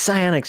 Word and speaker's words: psionics: It's pronounced psionics. Stop doing the P. You sound stupid.